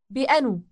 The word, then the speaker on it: بأنو: Bi anu. Bi anu. It starts with a B syllable.